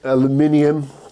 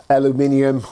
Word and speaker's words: aluminium: prefer aluminum or aluminum I know that the English pronunciation is the closest to the Dutch pronunciation but for some reason